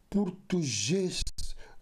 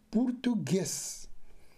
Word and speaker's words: português: tu g e s portugês ou portuges mas sim português primeiro paraia letra e